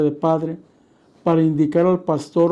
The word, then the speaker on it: Pastor: En Alemania, por ejemplo, se usa la palabra pastor con acento en la A para referirse al sacerdote católico. Pastor. Y pastor con acento en la O para referirse al ministro evangélico.